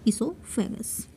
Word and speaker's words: esophagus: Must remember, esophagus is written with the letter O, that is silent here, esophagus.